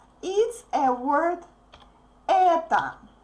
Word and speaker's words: это: The basic word that you can say is a word это. Это, is stressed, so the last O is pronounced like A.